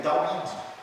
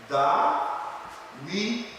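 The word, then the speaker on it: דוד: hebraico para o nome de Davi, que é Dawid. Dawid é esse nomezinho aqui, ó. Esse aqui é o nome hebraico, Dawid, né?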